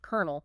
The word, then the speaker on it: colonel: Why is colonel pronounced colonel? Exactly.